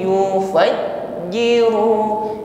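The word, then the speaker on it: يُفَجِّرُونَهَا: hi ha hi ibadullahi yufajjiru yufajjiru jim tasydid ditekan membacanya ketika menekan huruf jim tidak ada desis tidak ada nafas yang menyertainya sifatnya syiddah jahr tertahan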